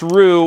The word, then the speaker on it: Ryu: Every time I pronounce it, someone says, "Well, you know it's Ryu."